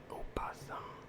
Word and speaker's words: opossum: Good night from your boy Cornfed Opossum. The O is silent.